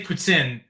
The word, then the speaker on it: poutine: they got good P poutine is that I pronounce it whatever sin you got the first part right at least uh but yeah um yeah if you say Puttin they'll be really impressed with you pin okay you